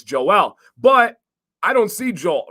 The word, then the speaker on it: Joel: It's pronouncing the J like Jose, right? Like never would have crossed. You got Joel, Joel, and Joel.